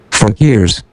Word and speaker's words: Fakirs: Fakers? I think that's how they say it. But I want to make sure. Fakirs. Fakirs. Fakirs.